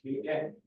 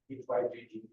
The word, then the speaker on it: hygge: I think it's pronounced Hygge or something like that. That's like HYGGE.